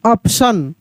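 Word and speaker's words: option: ओ पी टी आई ओ एन ऑप्शन।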